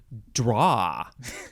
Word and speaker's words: droit: is next uh yeah I think it's droit or also draw you could say that Dua I I don't have a good French pronunciation it is spelled d-r-o-i-t